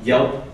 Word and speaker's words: Yelp: for something no I Yelp Yelp is uh a condensed version of Yellow Pages oh Yellow Pages okay yeah and uh it also rhymes with help so I can't get